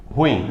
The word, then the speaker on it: ruim: Ruim, a gente pronuncia como? Ruim, como se ela fosse monossílaba. Ruim é de sílaba com a mais forte o in.